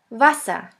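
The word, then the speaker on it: Wasser: one is v v which sounds like the v in the word van the German word with the letter V is Vasa Vasa which means water the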